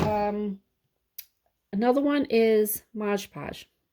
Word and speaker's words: Mod Podge: um another one is Modge Podge okay mod patch I know everybody says it's wrong I was saying it wrong too and I was corrected so uh Modge Podge do not use as your